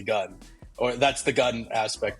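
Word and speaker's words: 軍: kanji our logo that the pronunciation of that word is actually gun or that's the gun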